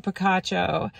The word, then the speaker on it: Picacho: on our second leg of our journey into Picacho state park that is how you pronounce it correctly um you guys know I